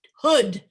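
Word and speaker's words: Houde: spelled wrong how tough it's hood like a hoodie jessica hood but it's spelled h-o-u-d-e school of acting they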